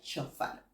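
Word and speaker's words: שׁוֹפָר: vamos a conseguir en la 7782 y se pronuncia chofar has escuchado la palabra chofar ya se escucha el chofar has escuchado un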